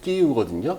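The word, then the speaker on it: Київ: 프리빗 이렇게 하고 역사의 하면은 이스토리치스키라고 하는데 우크라이나는 이스토리치느이 살짝 뒤 어미가 약간 그 다음에 재미있는 게 발음 법칙이 키예프는 끼우거든요.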